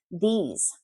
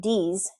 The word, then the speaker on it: these: But again, if you put your tongue between your two front teeth, these, you will be pronouncing it perfectly.